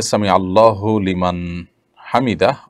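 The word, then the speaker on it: سمع الله لمن حمده: দেখুন, সামি আল্লাহু লিমান হামিদা, এটি হলো শব্দের সঠিক উচ্চারণ। সামি আল্লাহু লিমান হামিদা, সামি আল্লাহ লিমান হামিদা, এটা সঠিক উচ্চারণ নয়।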